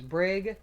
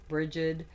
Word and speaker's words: Brigid: you know known as Brig Brigid Brigade many different ways of pronouncing it it all kind of depends on you where you're from and your pronunciation now